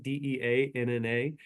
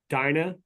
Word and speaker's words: Deanna: My wife's name is Deanna, Deanna, and she gets Dinah, Dana, Donna, Dean.